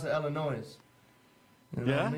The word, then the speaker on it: Illinois: I know I always pronounce it Illinois.